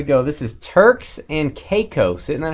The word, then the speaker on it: Caicos: This is Turks and Caicos.